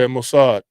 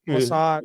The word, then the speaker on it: Mossad: Yeah, Mossad. Mossad, that's how you say that.